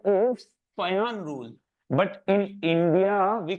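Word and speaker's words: Fajans: फजान rule, actually the pronunciation is Fayan rule, but in India we call it Fazan rule. It is not pronounced as Fazan, it is Fayan.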